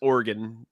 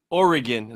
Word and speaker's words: Oregon: I think it's I've been told from people that live there that it's Oregon. Oregon, not Oregon.